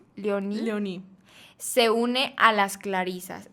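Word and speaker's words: Léonie: Carmelo y su hermana Leonie, ¿cómo se pronuncia? Leoní.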